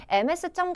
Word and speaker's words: Ms.: Kim이라고 나와져 있는데 MS점 같은 경우에는 Ms라고 해서 z로 발음이 된다라는 거 잊지 마세요.